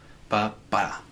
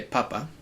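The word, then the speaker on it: papá: Make sure you kind of accentuate the last syllable. Papa. Because if you say papa, it means potato.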